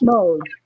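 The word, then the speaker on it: Moule: pronounced well it's Mo it's actually because my great-grandfather was French mle is actually French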